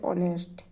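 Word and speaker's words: honest: अगर हमारा कोई शब्द जैसे साइलेंट है, उसकी आवाज़ नहीं आ रही है, जैसे हम यहाँ बोले ऑनेस्ट, ओ से एच की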